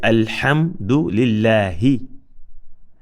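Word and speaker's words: الحمد لله: So it is alhamdu lillahi and not alhamdulillahi, nor is it alhamdulillahi, nor is it alhamdulillahi.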